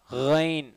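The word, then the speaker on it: غين: ரைன் சொல்லுங்க, ரைன் ரைரில் ரைரில் ரைன் மக்தூபி மக்தாத் அதுக்கடுத்து உள்ளது மக்தூபி மக்தூபி மக்தூபி. ஓகேங்களா? ரைன் வைப்ரேஷனோட சொல்லணும், காகலிங் சவுண்ட் இதில் இருக்கும். ஓகேங்களா? பா வா ஐன் ரைன் பா வாங்கிறது உயர்வான தடிப்பமான எழுத்துக்கள், நல்லா போல்டாக ஹையாக சொல்லணும்.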